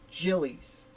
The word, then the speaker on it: Gillies: That name is pronounced Gillies. I will be saying Giles the whole time because that's how I've always read it. I only found out it was Gillies as I was writing